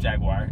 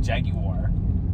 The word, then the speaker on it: jaguar: jaguar yeah yeah jaguar i i accept jaguar not jaggy war yeah you just add in syllables so we're at ponderosa